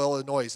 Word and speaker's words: Illinois: 1988, there was a pastor in Chicago, Illinois. His name, Chicago, Illinois. The S is silent, by the way.